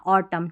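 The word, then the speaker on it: autumn: ऑटम ठीक है? और एमएन है ना ऑटम इसमें एन साइलेंट है। एम एन जब भी साथ में रहता है एन साइलेंट रहता है।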